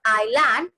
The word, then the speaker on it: island: My dear student, always keep in mind that in this island, okay, in the word island, this S is silent.